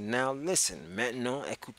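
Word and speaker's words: maintenant: T and a and T it looks like main tenant but you pronounce it Matt no met no so I said now listen Matt no I could say you know loads which is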